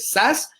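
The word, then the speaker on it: Szasz: Exacto, y Thomas Dass, acuérdense, se escribe S-Z-A-S-Z, así se escribe Dass, S-Z-A-S-Z.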